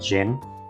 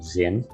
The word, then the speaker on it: Jin: for the longest time I called him Zin uh because I did not know how to pronounce it and it wasn't until he reappears later in a voice acted game where I learned it was Jin so yeah um his